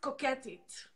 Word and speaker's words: Koketit: it how does it how it's called it's pronounced coquettish okay it's a French Israeli slang word very